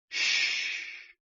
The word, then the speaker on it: xu: The 6 sounds are XU, pronounced like shh, with a deep sigh, which is associated with the liver.